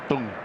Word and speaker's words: Teng: Dong Dong Kway Dung Dung. That is the correct pronunciation we were told.